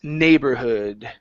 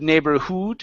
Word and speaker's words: neighborhood: here last one is neighborhood okay so instead of neighborhood with an O it's uh Hood neighborhood neighborhood there you go good